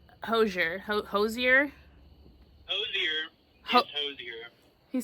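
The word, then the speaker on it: Hozier: now remind me how we were supposed to pronounce Hosier Hosier Hosier Hosier he says Hosier Hosier like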